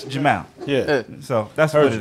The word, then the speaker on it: Jamal: Jamal's an Arabic name. In Arabic, we don't make the sound mal. That's why it's Jamal.